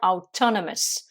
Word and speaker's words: autonomous: quelqu'un qui est autonome on à dire autant la messe on accentue sur la deuxième syllabe et attention ne pas